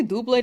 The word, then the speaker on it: Doublade: Do you guys say dual blade or dublade? I feel like it's I feel like doublade is the correct pronunciation, but I feel like dual blades fun to say.